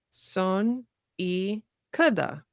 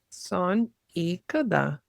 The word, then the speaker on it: 손이 크다: Son y kada. Mm-hmm. 손이 크다. Kada. Mm-hmm. Son y kada.